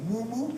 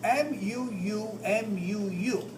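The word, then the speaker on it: muʻumuʻu: of like garment which we've commonly called a Mumu you ever hear that term Mumu in Hawaiian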